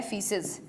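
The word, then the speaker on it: faeces: होता है ना बच्चों इसे बोलते हैं फीसस एई भी लिख सकते हैं एई भी लिख सकते हैं एक ही बात है क्लियर ए साइलेंट होता है डन क्या समझ में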